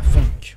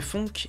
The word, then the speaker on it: phonk: À présent, parlons d'un nouveau style musical, la funk. Prononcé funk et non funk, malgré leur consonance, ces deux termes désignent des styles totalement différents.